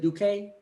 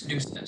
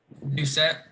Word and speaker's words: Doucette: Is it Duque? It's Doucette, sir. Say it again. Doucette. Doucette.